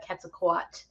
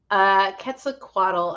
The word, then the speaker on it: Quetzalcoatl: Coatl is pronounced differently, so I get them mixed up sometimes.